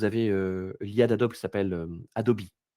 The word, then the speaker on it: Adobe: l'IA d'Adobe qui s'appelle, Adobe. Peut-être que vous le prononcez à l'américaine, Adobe, qui s'appelle Firefly.